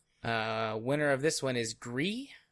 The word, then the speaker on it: Gris: Winner of this one is Gree. I'm pretty sure that's how you say it. I don't think it's Gris. I think it's Gree.